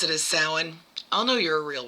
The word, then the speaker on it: Samhain: Um now also I have heard um people pronounce it sawin and I believe that is more Irish or savine which is um Scottish I believe.